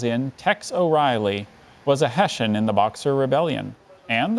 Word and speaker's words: Hessian: mercenary Soldier as in Tex O'Reilly was a Hessian in the Boxer Rebellion and the Mexican Revolution